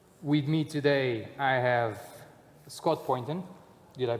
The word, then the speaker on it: Scott Poynton: With me today I have Scott Poynton. Did I pronounce it right?